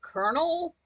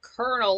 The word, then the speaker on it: colonel: Colonel, like Colonel. Sounds like kernel, like a kernel of corn.